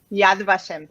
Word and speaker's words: Yad Vashem: Fue pasante del Jewish Museum y del Metropolitan Museum of Art en Nueva York y docente del Museo Yad Vashem. ¿Se pronuncia así? ¿Lo dije bien? Yad Vashem, sí.